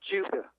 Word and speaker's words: Judah: Okay, yeah, if you want to say it in English, it's pronounced Judah.